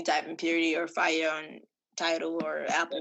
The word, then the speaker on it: Fyiah: You can type in Purity or Fyiah on Tidal or Apple. That is FYIAH, not spelled how you're phonetically familiar with.